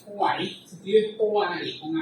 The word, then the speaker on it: Hoare: Entonces, un señor de apellido Hoare, con H, Hoare, se escribe Hoare con